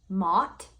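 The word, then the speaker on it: Maat: idea the Egyptian goddess m-a-a-t I'm going to pronounce it Mott for instance weighs the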